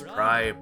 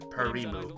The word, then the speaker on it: Prime: Well, Nomi, that's Prime, not Parimu.